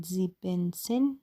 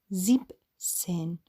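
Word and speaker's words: siebzehn: این عدد اینجوری کردن که نمیگن زیبن سن زیبن سن اشتباهه میگن زیب سن بعد دوباره همینجوری ادامه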